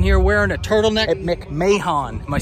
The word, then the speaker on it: McMahon: A quick Google in the editing room has me realizing the Stampeders Stadium is pronounced McMahon, which sounds like a meal Jeffrey Dahmer would have tried to order from McDonald's.